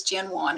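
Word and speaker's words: Jinhwan: I saw Miranda in the chat said it is Jinwan. I think when you Romanize, when you Romanize the name, the H is silent.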